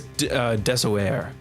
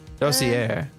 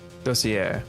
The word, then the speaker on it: dossier: Colin Deveray's Desoyer. I don't know how to say this word. Desoyer? Desoyer? Dossier. Yeah, say it like that. Dossier.